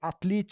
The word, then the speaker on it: Atlete: Atlit se escreve a T L E T E.